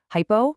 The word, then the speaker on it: hypo: Hypo rhymes with low, meaning these fluids have a lower osmalerity or a lower concentration than your actual blood.